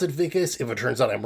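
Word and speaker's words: Wikus: I think it's pronounced Vicas. It's spelled with a W, but I'm pretty sure W's are pronounced as a V in South Africa. So, I'm going to pronounce it Vicus.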